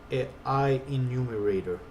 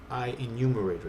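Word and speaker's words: IEnumerator: can't even pronounce it I enumerator I enumerator that's what it's called and then we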